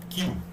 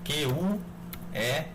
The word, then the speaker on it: queue: Essa interface chama-se Queue, tá? Queue, que se escreve dessa forma. A escrita é um pouco estranha, né? Q-U-E-U-E, Queue.